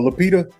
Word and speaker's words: Lupita: But Lupita, how do you pronounce her name? Oh, Lupita.